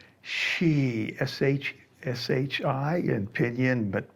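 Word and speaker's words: shi: back to center exhale make the healing sound she s-h-s-h-i and pinion but pronounced like s-h-e-she she bend the waist and move your hips around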